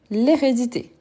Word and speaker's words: hérédité: h aspiré hein unensuite hérédité hérédité et oui c'est un H mé donc on dit l'hérédité l'hérédité ensuite on a h